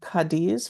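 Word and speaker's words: Cádiz: Another trip you did was actually a yoga retreat in a place called Cadiz. Am I pronouncing it right?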